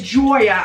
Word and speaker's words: Joya: didn't have to be like oh no it's Joya I know it looks like Julia but it's pronounced Troy it's different it was I didn't